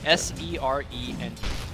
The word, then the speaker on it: serene: S-E-R-E-N-E. Serene. Serene.